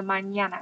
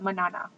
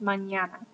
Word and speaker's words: mañana: And mañana has a squiggle over the end, which means that you need to make it ña. So mañana. It's not manana. Alright, it's mañana, tomorrow.